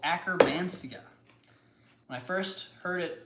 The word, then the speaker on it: Akkermansia: When I first heard it talked about, I thought it was acromantia. And I thought about a little acrobat guy. And I really liked that. So how is it spelled instead? It's spelled Akkermansia. Akkermansia. Oh, so it's acker instead of acro.